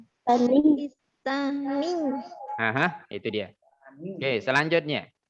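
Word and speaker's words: باكستانيّ: Ditekan ya. Di sini ada penekanan. Ya, tasdid, kemudian dia berada di akhir kata, maka kita bacanya ditekan. Pakistani. Pakistani.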